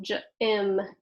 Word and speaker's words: gym: all right so it's followed by Y so now it's gonna soften gym gym like gym class okay then we have